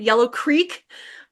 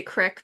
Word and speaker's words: Creek: of the town Yellow Creek, I say Crick, but it's Creek. I gotta say it properly.